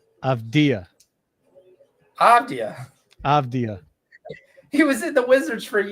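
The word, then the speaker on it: Avdija: Do you want to know how do you really pronounce Denny's name? Avdia.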